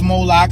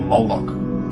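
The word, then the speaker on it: Moloch: The MLK is vocalized as Moolik or Moolok in the Maseretic texts, which is an authoritative text in rabbitic Judaism. It's from this pronunciation that we get the contemporary name Moolok.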